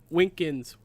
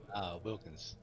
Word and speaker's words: Wilkins: All right, Winkins, right? No, how do you say your last name before I murder it even more? Wilkins. Wilkins, yes, because my English is